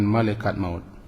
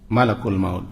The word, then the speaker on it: malakul maut: dikeluarkan oleh malakul maut kita sering membacanya dengan malaikat maut dalam al-qur'an tertulis malakul maut Qul yaawafakum malakul maut